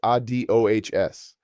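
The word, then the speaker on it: adiós: Finally, goodbye is adios pronounced a d o hs. The stress falls on the final syllable.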